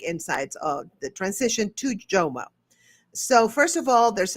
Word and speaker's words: JOMO: Is it JOMO, FOMO, JOMO, right? Am I saying it right? Yeah, it's JOMO, the joy of missing out.